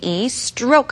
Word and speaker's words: stroke: 자, S-T-R-O-K-E, stroke 하면 영법이란 말인데요. 자, do you know how to do all the strokes? 모든 영법 할 줄 알아라고 물어봅니다. stroke 발음해볼까요? 스트라기보다는 뜨 발음 납니다. stroke, stroke.